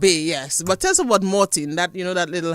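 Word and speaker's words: Montine: in we just Chang it's spelled m o n t i n e but it's Mortin so the say say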